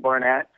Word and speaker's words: Barnatt: knee knockout live uh bar barnat how you pronounce it Luke Barnett um as far as seeing it live um